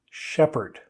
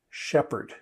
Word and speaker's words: shepherd: I'm sure you're an excellent student and you know that when we have PH beside each other in English, they make a F sound. But not this time. Shepherd. Shepherd is how we say this. So even though the P and the H are beside each other, it's just coincidence.